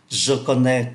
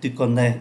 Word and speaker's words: connais: Chúng ta thấy là ba cái ngôi số ít này phát âm giống nhau: je connais, tu connais, il connais. Nhưng mà cách viết thì khác nhau.